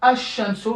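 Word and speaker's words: الشمس: Donc ici, c'est une lettre solaire, donc Ash-Shamsu, donc le lam il tombe.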